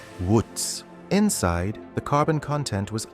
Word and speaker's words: Wootz: The steel itself was called uku. When European traders encountered it, they wrote the word phonetically. It became Wootz.